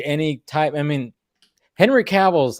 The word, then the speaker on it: Cavill: now a name because nobody nobody even pronounced his name correctly when he got connect you know caval Caville we all called him Henry Caville who's this guy oh